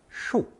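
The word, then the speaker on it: 恕: As you can see, this new character is pronounced fourth tone shu composed of zu from lesson 17 plus the heart reticle shin underneath.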